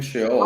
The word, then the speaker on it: Sheol: Well, he's pronouncing it very nicely. You see, Bart, he's saying Sheol.